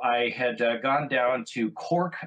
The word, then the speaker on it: Cork: And so I had gone down to Cork, Ireland, which they pronounce Cark.